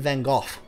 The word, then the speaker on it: van Gogh: see Čiurlionis as the Lithuanian version of Vincent van Gogh. And yes, that's actually how you pronounce van Gogh's name.